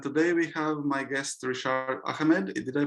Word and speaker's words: Rishad: is Thomas and today we have my guest Richard Ahmed did I pronounce her name correctly yeah perfectly actually yeah